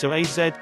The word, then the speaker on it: psoas: It's often called the mighty psoas, pronounced psoas, for the many important functions it plays in the movement of your body.